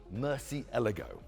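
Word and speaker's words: Murciélago: YouTube, I asked the PR lady how to pronounce the name. She told me Murcielago. So I used that. When I came back to Britain, I found nobody else was saying that. They're all saying Murcielago or Murcielago.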